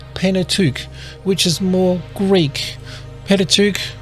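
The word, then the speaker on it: Pentateuch: Jewish tradition or penet which is more Greek patuk like Pentagon it's just five Pat five books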